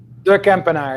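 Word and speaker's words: de Kempenaer: Help me out with a correct pronunciation. Ducampinar? Ducampinar, yeah, that's it.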